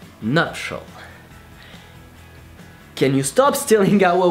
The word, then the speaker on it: nuptial: So how to pronounce nuptial in French? Nuptial. Well, that's easy. Just say nuptial and then make it sound softer, more romantic, artistic, poetic, sexy, more voluptuous.